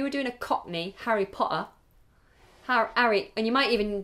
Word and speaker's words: Potter: my patrons is asking do you pronounce the Double T in Harry Potter so we just say it once we say Potter Potter